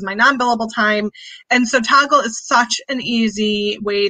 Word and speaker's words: Toggl: So how do you spell it? T-O-G-G-L. T-O-G-G-L? Mm-hmm. Toggle.